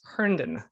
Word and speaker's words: Herndon: pacheco and today with me i have herndon my pronouncing your last name right i forgot to